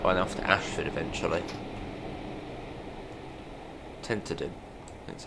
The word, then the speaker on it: Tenterden: Tenterden, that's how you say it.